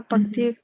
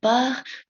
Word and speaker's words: part: Cette chambre dote accueille les tout à partir de cancer.